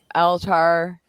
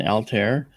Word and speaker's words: Altair: Aldebaran, Altar, Antares, and Rigel.